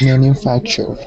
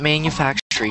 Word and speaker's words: manufacturer: me manufacture manufactur manufact manufacturer manufactur manufactur good manufactury no no no not manufactury just manufacturer manufacturer there you go okay